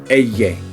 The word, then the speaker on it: ella: Alright, it's ella. Ella. If you want to pronounce it correctly, it's ella. It's a double L.